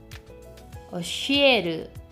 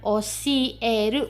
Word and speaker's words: oshieru: Oshieru, ada desahan sedikit ya, karena dia sh. Sh itu beda sh, sh gitu ya. Oshieru, bukan oshieru, bukan gitu pelafalan, tapi oshieru, ya, ada sh-nya sedikit. Ya, ada desahnya sedikit.